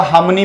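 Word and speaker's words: harmony: तो यहां पे देखो लिखा है हार्मनी, आर साइलेंट हो जाता है इसका, हार्मनी बोलते हैं इसको, हार्मनी बोल देते हैं, हार्मनी, हार्मनी बोलेंगे इसको, हार्मनी, हार्मनी भी बोल देते हैं, तो हार्मनी।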